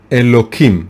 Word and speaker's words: Elokim: And the second name is, of course, Elokim, right? It's written with a Hey, with an H, but we pronounce it with a K.